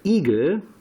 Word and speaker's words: Igel: Der Igel, pronounced very similar to the American eagle, however it's not that, it is hedgehog.